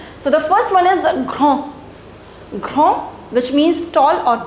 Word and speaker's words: grand: Now the pronunciation would be different because in French you do not pronounce the last consonant. So this would be grand. D will not be pronounced. Here this is not the last consonant because after that came e. Right? So you'll pronounce D over here.